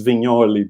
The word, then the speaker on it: Vignoli: That's why it's Vignoli, because it's like Mike Mignola, no, like that's how you pronounce it.